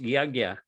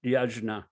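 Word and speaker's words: yajña: yeah mike uh just for your information it's pronounced yagya it's not pronounced yajna i don't know why i guess the the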